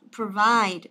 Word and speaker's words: provide: Đó, provide nhớ đọc là pro nhé. Đấy, không đọc là provide, chứ đọc là provide.